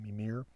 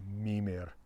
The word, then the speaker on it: Mímir: But in fact, all Old Norse words, or indeed modern Icelandic words, are emphasized on the first syllable. So it's Mimir, not Mimir.